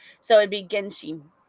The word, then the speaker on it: Genshin: No, you put it like Genshin. Like she. Yeah, but say it like because I think it comes. Correct me if I'm wrong, chat, but I think it comes from Japanese, and in Japanese it would be Genshin.